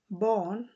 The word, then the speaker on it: Barn: এখানে এটাকে অনেকটা অর মতো উচ্চারণ হবে, বর্ন। সেখানে বার্ন হবে না, যেন আমরা ইংলিশে যেভাবে লিখি বার্ন, ওই বার্ন হবে না, এটা হবে বর্ন।